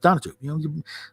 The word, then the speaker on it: Donatu: But I think proof they really didn't go over is it's spelled Donatu. Donatu. It's not pronounced that way though. It's pronounced Donatu. The middle syllable is very subtle.